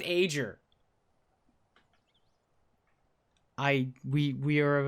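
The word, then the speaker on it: Aegir: it's I know but there's a G in there should be pronounced ager I we we are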